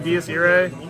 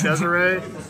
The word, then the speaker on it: Desire: keep mispronouncing this card I keep saying dsay instead of Desire I don't know why